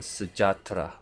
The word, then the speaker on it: Selamat Sejahtera: Let's take "Selamat Sejahtera" as example "SE" in "Selamat", use AIU(E)O to pronounce it "LAMAT" in "Selamat", use (A)IUEO to pronounce "SE-JAH-TE-RA" These are (A) and (E) intonations, isn't very simple?